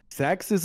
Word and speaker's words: Xerxes: Ja, Xerxes ist aber die griechische Aussprache, okay. Die europäische. Die Perser sagen Khashaya.